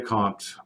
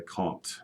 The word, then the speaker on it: Comte: food now a ghost a Kant or Comte or however you want to pronounce his name Auguste a Comte is how I pronounce it said that crime is